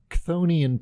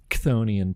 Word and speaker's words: Chthonian: put you off, take a trip to a Chthonian planet on your next Walkabout the Galaxy.